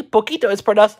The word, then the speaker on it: Pocito: finally for the trivia in spanish when the c proceeds and e for and i it is pronounced and like an s mi poquito however in both the